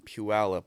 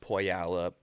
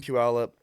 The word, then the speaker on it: Puyallup: reads where I'm from, they butcher it. They're like Puyallup. There's a bunch of like tribal land in Washington, so a bunch of names that most people don't know how to pronounce.